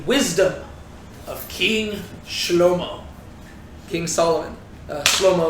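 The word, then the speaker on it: שלמה: of King King Solomon slo-mo is how you pronounce his name in Hebrew that being said there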